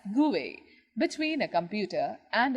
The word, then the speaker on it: GUI: a graphical user interface gui pronounced as gui between a computer and